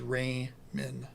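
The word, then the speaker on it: Ramin: guess you know that his name is Ray min r-a-m-i-n there's no other way to pronounce that you're having way too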